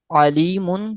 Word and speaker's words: علیم: علیم، علیم خبیر۔ یہ ذہن میں نشین رکھ لیں کہ جب بھی پڑھنا ہے تو یہ نہیں کہ ہم نے ہجے کرتے وقت عین پڑھا اور ایسے حمزہ پڑھیں، ایسے نہیں پڑھنا۔ تو علیم تھوڑا زور لگتا ہے لیکن ادا ہو جاتا ہے۔ علیم خبیر۔ اب اس